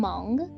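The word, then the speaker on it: Hmong: this Earth please ethnically I am Mong which is spelled h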